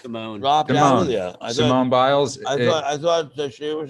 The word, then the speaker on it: Simone Biles: If you're a huge athlete, this person, Simon Biles, is that how you pronounce her name? Well, I thought this person was just Simone. dropped out of the. Simone Biles.